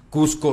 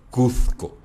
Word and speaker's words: Cusco: de los latinos entonces cusco nunca fue pronunciado cuzco jamás además porque en que